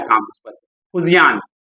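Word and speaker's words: Fujian: उसका 3rd aircraft carrier जो अभी कमीशन हुआ है, अभी चल रहा है काम उस पर, फुजियान, उसको अलग अलग लोग प्रोनाउंस करते हैं। ओके, फुजियान नाम है।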